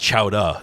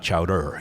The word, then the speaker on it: chowder: It's pronounced Chowa, not Chowder, you know, that kind of stuff.